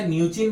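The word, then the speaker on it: Mnuchin: ये याद रखना, इसमें एम साइलेंट है, वो हमेशा न्यूचिन बोला जाता है, लेकिन वो हमेशा लिखते हैं क्या? एम से, यानी स्टीवन म्यूचिन। ठीक है, जिसको अगर हिंदी में बोला जाए तो न्यूचिन ही बोला जाएगा।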